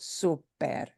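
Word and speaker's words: súper: is to show you here's a syllable you do punch harder okay that's the job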